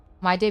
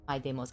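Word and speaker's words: Mydei: think so too yeah the reason the reason that I think um I would choose to pronounce it my day is because uh of the word deity which I feel like the root is in there right I'm just basing this off of how I I understand how Greek pronunciation is done in English so um my day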